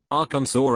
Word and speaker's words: Arkansas: They are pronounced differently because the Kansans took the French pronunciation of the word and the Kansans took the Spanish pronunciation.